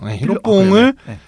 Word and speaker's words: 히로뽕: 히로뽕 히로뽕을 어 영어로 표현한게 필로폰이래 히로뽕이 일본 말이잖아요.